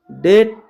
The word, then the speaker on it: debt: जैसे कि डेट, डाउट, डेटर। जो डेट है DEBT, यहाँ पर डेट में जो बी टी के पहले आया है तो यहाँ पर बी साइलेंट हो जाएगा।